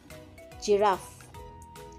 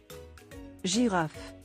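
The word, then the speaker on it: girafe: giraffe which means giraffe it is a soft pronunciation if it is in front of e i or y okay again giraffe let's listen giraffe giraffe for heart j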